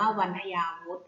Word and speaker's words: วันทยาวุธ: คำ ว่า วันทยาวุธ วันทยาวุธ อ่าน ว่า วันทยาวุธ วันทยาวุธ ประกอบ ไป ด้วย